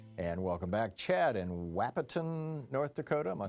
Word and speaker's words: Wahpeton: Chad in Wahpeton, North Dakota. Am I saying it right, Chad? Wahpeton, but it's close.